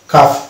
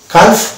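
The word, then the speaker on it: calf: আছে অর্থাৎ এ থাকলে আমরা সেক্ষেত্রে এল কে উচ্চারণ করবো না এল কে সালে পাবো অর্থাৎ এটা হচ্ছে হাফ কাফ এটা হালফ কালফ এরকম না এটা হচ্ছে হাফ হাফ কাফ তারপর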